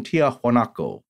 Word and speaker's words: Tiahuanaco: there tiwa naco although you'll hear professor barnhart pronounce it in the spanish variation tiahuanaco so i believe to